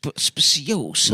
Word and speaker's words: speciosa: Speciosa.